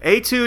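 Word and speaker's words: étude: Well, we are going to talk about the 1972, I think it's 72, episode Etude in Black, which is spelled Etude, E-T-U-D-E, but it's actually a French word meaning a short musical piece, so it's pronounced etude.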